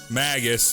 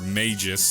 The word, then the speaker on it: Magus: up Magus or mages depending on how you want to pronounce it is definitely definitely a